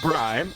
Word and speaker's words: braai: pronounced bri, is a fundamental South African social tradition similar